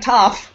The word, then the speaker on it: Toph: I sound like Toph, a because it rhymes with tough.